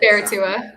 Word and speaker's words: Baratua: So Baratua. It rhymes with Barracuda.